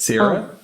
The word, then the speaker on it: Sierra: How do I pronounce it? Sierra? It's Sierra, yes.